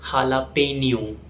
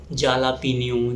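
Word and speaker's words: jalapeño: इज हाला पनियो यस इट is pronounced S हाला पनियो इट इज a green chilli paper it's basically used in Mexican cuisine of miss pronounce S जाला पिन जला पिनो और something like that the correct pronunciation is लापिन the next word is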